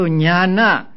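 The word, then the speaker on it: ñāṇa: a few days ago the dot beneath the the letters mean that they are to to be pronounced with the uh with the front of the tongue touching against the heart pellet they are called cerebrals so nyana and the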